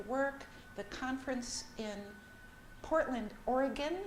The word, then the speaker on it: Oregon: the conference in Portland Oregon they do pronounce it Oregon not Oregon but it's I